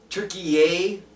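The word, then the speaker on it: Türkiye: Turkey yay? Yeah, it's not called turkey anymore. It's called turkey yay, and it's spelled differently now for some reason.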